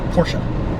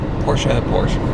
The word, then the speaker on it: Porsche: Porsche. Porsche. Gotta say it right.